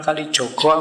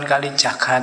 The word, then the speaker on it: Kalijaga: gak apa-apa sama kayak UIN itu UIN Sunan Kalijogo apa Sunan Kalijaga atau P sembuh lah Sakarepmu sing penting yo